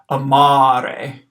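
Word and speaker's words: amare: long a ar e the first day is short the second day is long so I'm gonna hold out that second a a little bit longer than the first one so here's the pronunciation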